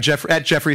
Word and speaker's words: Jeffrey: If you want to continue the discussion at all, feel free to reach out to me at Jeffrey, Jeffrey R-E-Y, 2 syllables, not 3.